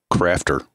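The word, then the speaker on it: Qrafter: And then, as long as you're talking apps, there's another one that's really cool called Crafter, spelled with a Q, Q-R-A-F-T-E-R.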